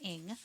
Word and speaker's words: Ng: So we're going to talk about the childhood of Charles Ng, last name Ng, pronounced Ng.